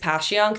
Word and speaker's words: Passyunk: I live off of East Passyunk. There's no H in Passyunk.